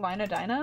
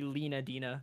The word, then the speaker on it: Lena Dina: That's how your name is supposed to be pronounced. It's not Lina Dina. Not Lina Dina. Yeah, you guys didn't know this? It's canonically supposed to be Lena Dina.